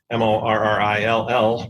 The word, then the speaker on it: Morrill: eloquent and as Justin Morrill, who was a congressman who has the kind of named after, the land-grant system was named after, which I love. It's not spelled moral, but it's a Morrill.